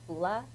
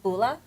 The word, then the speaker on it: bula: It's called bula, and it basically means hello. How are you? So How you say it everybody- again? Bula. Bula. It's B-U-L-A, bula, and everybody screams at